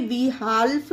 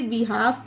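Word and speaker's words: behalf: बिहाव पढ़ा गया इसे ब हाल्फ नहीं पढ़ना गाइस इसे बि हाफ पढ़ेंगे क्योंकि एफ से पहले एल है तो यहां पर एल साइलेंट है उसी तरह से सी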